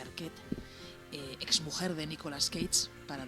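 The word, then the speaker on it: Arquette: protagonizada por Patricia Arquet, creo que se pronuncia Arquet, exmujer de Nicolas Cagees, para dar más datos.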